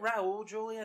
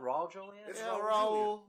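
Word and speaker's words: Raúl Juliá: ] losers and also is it Raul Julia not wrong Julia it's all pronunciation but I guess in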